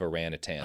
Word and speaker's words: orangutan: want you to look at the spelling of orangutan there. Oh, is it similar to orangutan?